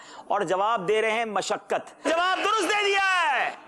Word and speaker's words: مشقت: مشقت ہے درست. جی مشقت. میم کے اوپر کیا ہے؟ زبر. یہ کہہ رہے یہ مشقت یا مشقت پوچھا گیا تھا, اور جواب دے رہے ہیں مشقت.